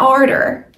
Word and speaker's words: order: It's not ardor. We don't make the R sound like far and car. We make the OR sound like more and floor. Or. Order.